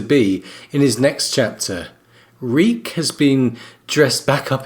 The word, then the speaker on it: Reek: to remember his name reek my name is reek it rhymes with weak and we see this